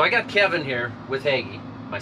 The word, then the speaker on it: Hagie: So I got Kevin here with Hagie.